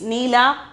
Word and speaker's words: नीला: Pronunciation is neela, blue.